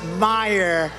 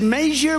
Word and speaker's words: Meijer: of the ten impeachers a guy who spells his name m-e-i-j-e-r but they pronounce it Meyer the hell kind of